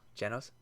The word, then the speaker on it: Genos: Genos? Oh, it is Genos. I thought it was always a ge sound on the Genos.